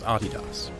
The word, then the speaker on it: Adidas: by the way that is indeed how you pronounce Adidas but back to Phil after riding that vapor